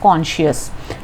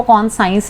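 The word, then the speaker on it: conscious: इसको हम कहते हैं प्रिकिंग ऑफ कॉन्शियस, ठीक है। तो उनकी जो कॉन्शियस थी, कॉन्शियस मीन्स उनकी जो आत्मा थी, ये स्पेलिंग होते हैं कॉन्शियस के, इसको कौन साइंस नहीं बोलना, ठीक है।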